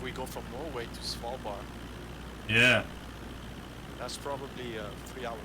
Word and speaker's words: Svalbard: places oh see if we can find a svalbard check out svalbard what that looks like how do you spell it s-v-a-l-b-a-r-d svalbar svalbard yeah it's a fun